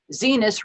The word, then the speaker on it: Zenas: So Henry appears in an episode of Drunk History where he plays Zenas, rhymes with penis, Fisk Welber.